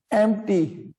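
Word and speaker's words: empty: पी तो बोलते ही नहीं है, पी तो बोलते ही नहीं है प्रोनाउंसिएशन से, यानी एम्प्टी।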